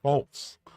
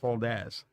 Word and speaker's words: Foltz: I mean, like in Europe, they call it, they pronounce his last name Foltz, not Foldez.